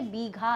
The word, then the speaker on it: बीघा: ये कोई भीगा हुआ नहीं है, ये बीघा है, भीगा नहीं, भीगा। ठीक है, बीघा, बी, भी नहीं, बी।